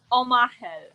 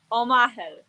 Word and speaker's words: Omachel: so much for inviting so ready and it's omaha omaha i totally would have butchered your name but so many people changed